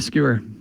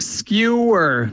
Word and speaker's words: skewer: yeah it's called a skewer yeah I read it in books like all these years I never heard any one pronouncing this word but uh yeah you say it like skewer that's it skewer yeah so that was